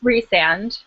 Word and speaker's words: Rhysand: Wait, how do you pronounce it? Because I call it Rhysand in my head. I thought it was Rhys. Rhysand. Rhysand, yeah. And Rhys for short.